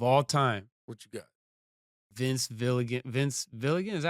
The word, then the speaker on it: Vince Gilligan: Vince Gilligan, is that how you say it? The guy who did Breaking Bad? Yeah, yeah, yeah, Vince Gilligan.